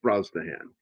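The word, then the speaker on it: Brosnahan: Rachel uh Broahan. A lot of people they look at her name and they don't know how to pronounce that name. It's it's Brazan.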